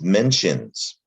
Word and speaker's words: mention: english word mention and it's the t i o and that's the trick here in english it's pronounced shun mention not t-i-o-n that